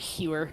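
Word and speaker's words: Huer: H-U-E-R. How else are you supposed to pronounce that except Hewer?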